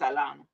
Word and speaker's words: Atlanta: See, Atlanta, if you from here, you don't you don't pronounce it with a T. It's just Atlanta.